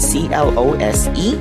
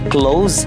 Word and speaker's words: close: It is a five-letter word, C-L-O-S-E. The first way to pronounce it is with a Z sound, rhyming with doze. So you say close, the opposite of the verb open. So you say close the door with a Z sound.